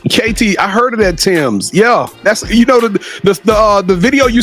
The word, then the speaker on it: Tems: I think they're how you say it is Tim's, TEMS. KT, I heard of that Tim's.